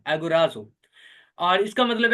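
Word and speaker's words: ἀγοράζω: उसे कहा जाता है एगोराजो। आप इसकी प्रोनाउंसिएशन जो है वो यूट्यूब पे भी देख सकते हैं, वो इस तरह से है, एगोराजो।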